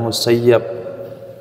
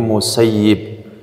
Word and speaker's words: Musayyib: baca dalam Kitab Hadis tulisannya itu musayyab tapi para masikh para ulama hadis mengajarkan Bacanya jangan musayyab tapi musayyib Kenapa tidak boleh tulisan